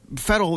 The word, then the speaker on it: Farrell: I think Farrell is also like an American name, right? I always think of Will Ferrell, like the actor, when I Ferrell, see but that's obviously pronounced differently. So, well, look, I mean, Farrell is actually an Irish name. It's actually an O'Farrell. So, yeah, you learn something new every day.